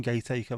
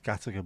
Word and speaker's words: Gateacre: So many people call it Gateacre. It's not fucking Gateacre, man. Makes no sense that it's Gattaca, but it just is.